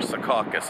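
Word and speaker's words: Secaucus: anyway train time so SE caucus New Jersey or sakas if you're from here depends how you pronounce it see this parking lot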